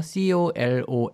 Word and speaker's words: colon: 컬러 니 라는 단어를 많이 쓰는 것 같아요 colon 잊어 그 남성들이 쓰는 그 화장수 컬러 온 cologne 하고 발음이 조금 비슷하게 드릴 수도 있는데 대장 을